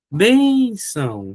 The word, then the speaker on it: bênção: Olha, bção, ó, é uma paroxítona. É uma paroxítona, só que é uma paroxítona que termina em ditongo, ó. Ó o ditongo aqui, ó. Bênção.